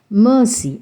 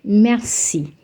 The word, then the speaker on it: merci: 90 of the people I think you'll be pronouncing it as Mercy it's not Mercy it's Mercy don't give a little stress on the r and say merci mercies thank you okay now let's summarize what